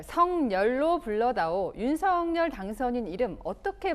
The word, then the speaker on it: 석열: 발음법상으로는 성열이 맞습니다. 석열이 맞죠? 아니요, 성열.